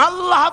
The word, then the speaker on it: আল্লাহ: উচ্চারণ হচ্ছে আল্লাহ মুখটা একটু গোল হয়ে যাবে বলেন আল্লাহ আল্লাহ সুবহানাল্লাহ পৃথিবীতে বিভিন্ন